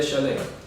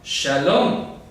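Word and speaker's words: שלם: la bendita ciudad de Shalem. Y a mí me ha sido revelado por el Señor que esto no se lee Shalem, sino Shalom, que es paz.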